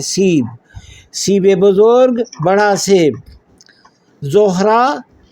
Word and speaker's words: سیب: سیب ہم سیب کہتے ہیں اور فارسی کا تلفظ جو ہے وہ ہے سیب.